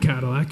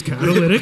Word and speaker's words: catalytic: And when I first wrote it in my notes, I was like, "It's not Cadillac. It's catalytic."